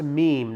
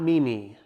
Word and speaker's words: meme: just as an FYI it's pronounced meme not Mimi I don't care what